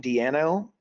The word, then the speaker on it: Di'Anno: Tell you also, I just read this morning, Paul Di'Anno, I believe is the way you pronounce his last name, Di'Anno.